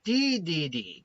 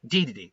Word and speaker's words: Dedede: Then we have Leon Kennedy versus King Dedede, or DDD. There we go, yeah, Dedede.